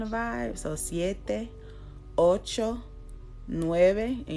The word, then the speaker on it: nueve: vibe so siete ocho nueve and you see how Nueve is not Nueve it's nueve which I kind of make myself say it with a B but like a soft B but if you if